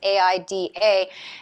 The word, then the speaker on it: AIDA: but carnival also owns aida not sure how the germans pronounced that cruise lines but the americans aida that is a uh